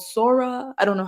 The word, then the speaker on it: Sora: open AI recently released I think it's called sora I don't know how you would pronounce it s o or something like that Sora yeah Sora okay perfect and basically you can